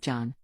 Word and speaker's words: John: John then said that he goes by John, not Jan.